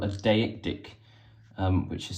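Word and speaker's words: deictic: two opens with uh something we call a deic dick um which is spelled D e i c t i c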